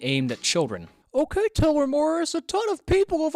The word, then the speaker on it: Morose: Okay, first it's pronounced Morose, not Morris, but A for effort, I suppose.